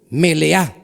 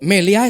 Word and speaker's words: Meleá: Cuando dice allí palabra primicia es la palabra melea. Meleá con acento en la última vocala, que quiere decir lo pleno. Lo pleno. Entonces leímos que la primera es lo primero y lo mejor. Meleá es lo pleno, la plenitud.